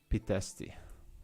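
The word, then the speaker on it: Pitești: Pitesti.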